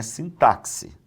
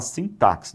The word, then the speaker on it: sintaxe: Ó, a pronúncia correta aqui não é sintaxe. Tem gente que fala sintaxe, não tem sintaxe não. O som desse X é o som de dois s.